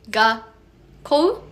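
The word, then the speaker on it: 学校: For example, the word gakkou has double K, so you pause the sounds after you pronounce ga. So it's gonna be gakkou. That's how you pronounce.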